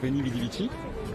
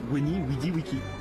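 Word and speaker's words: Veni, vidi, vici: Théoriquement, en latin classique, on ne prononce pas Veni Vidi Vici, mais c'est Weni Widi Wiki.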